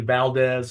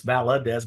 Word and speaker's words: Valadez: They usually Valdez and it's Valadez.